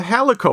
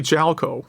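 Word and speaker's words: Jaleco: yet probably yeah uh uh halico or possibly jalco i think gelco is the correct pronunciation um go ahead okay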